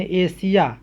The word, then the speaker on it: Asia: जैसे ASIA, यहाँ पर ध्यान देंगे एस के बाद IA आया है, इसलिए इस एस का उच्चारण क्या होगा दंती सा हो जाएगा, यानी एशिया, एशिया एक महादेश का नाम है।